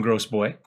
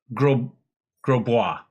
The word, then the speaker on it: Grosbois: We're going to continue to call him Gross Boy, but it was pointed out that it's Grosbois. Thank you, Old Lady Plays, for the correct pronunciation.